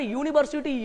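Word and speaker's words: university: और वो क्या है, देखो यूनिवर्सिटी यू से शुरू जरूर है, लेकिन उसका उच्चारण क्या है, उच्चारण यूनिवर्सिटी य से है, तो य से जब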